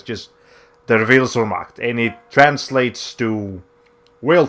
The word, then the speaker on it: Der Wille zur Macht: The way you pronounce that, I just googled this. The way you pronounce that subtitle is Der Wille zur Macht. I know it looks German, it looks complicated.